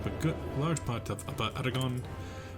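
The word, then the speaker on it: Aragón: good large part of Aragon, or Aragon, if you want to get technical. I always dislike how the Spanish pronounce their G's.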